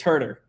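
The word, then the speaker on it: Huerter: Wait, why did I pronouncing the names wrong? You're you're chuckling a bit there. Uh, it's Herder. I mean, anyone that I know at least just refers to him as Herder.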